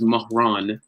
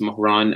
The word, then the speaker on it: Mahran: great awesome yeah so my name is mahran that's how it's pronounced mohran um i'm